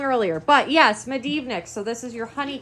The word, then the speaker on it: Medivnyk: Medivnyk. Medivnyk. I said it wrong earlier. But yes, Medivnyk.